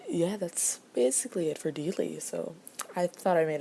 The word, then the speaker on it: Deelee: Vale so that's her so the next character is one of my favorites as you can probably tell and it's Dealey that's pronounced Dealey and he is in an inmate of the